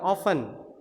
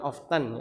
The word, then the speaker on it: often: yang digunakan kemudian ada ungkapan oven ya bukan often jadi bacanya oven oven itu 70% kurang lebih